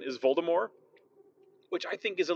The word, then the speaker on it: Voldemort: pronounced pronounced not announced apparently that's the intended pronunciation is Volta more which i think is a little sexier I